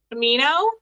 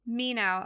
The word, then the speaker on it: Mineau: last name tell me how to say it Mino Mino okay I was going to say Manu But